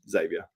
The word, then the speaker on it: Xavier: I think it's just because you see the X and you don't pronounce it like, I think you don't pronounce it like a Z, but it's pronounced like a Z, Xavier.